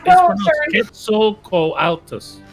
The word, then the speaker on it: Quetzalcoatlus: It's pronounced Quetzalcoatlus.